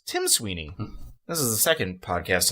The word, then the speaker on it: Tim Sweeney: Recently, Tom Sweeney, who owns Epic Games? Tim Sweeney.